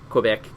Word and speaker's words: Quebec: And this particular week, me and my buddy went to Montreal, Quebec, Canada. It was like 7-hour drive. So I think we, it's pronounced Quebec. Quebec.